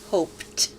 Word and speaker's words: hoped: to form the word hoped. The ed is pronounced t because hope ends with an unvoiced sound.